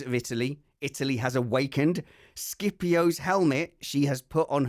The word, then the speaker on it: Scipio: Scipio's helmet she has put on her head. Scipio. Huh? Scipio. Is that how it's pronounced?